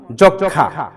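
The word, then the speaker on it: যক্ষ্মা: জন্ম গুলম মোহাম্মদ ইত্যাদি আর যদি ম ফলাটা যুক্ত বর্ণের সাথে লেগে আসে সেক্ষেত্রে ম ফলা অনুচ্চারিত থাকে যেমন যক্ষা লক্ষণ যক্ষা জক্ষা লক্ষণ আমরা এই উচ্চারণগুলো সঠিকভাবে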